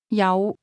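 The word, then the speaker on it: 有: Yao. The word have is pronounced with a low rising tone.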